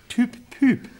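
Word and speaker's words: TopPop: Doing, yes, well, in Holland we were doing like the Dutch equivalent of Top of the Pops, which is called, for the right pronunciation, Toop Poop.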